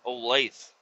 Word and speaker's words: Olathe: I'm just the memories that I have from that house back in Olathe, Kansas, Olathe, but it's spelled Olathe, Olathe, Olathe, Olathe.